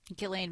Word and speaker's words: Ghislaine: Ghislaine. All right. Thank you. You're going to be the official pronouncer of Ghislaine Maxwell.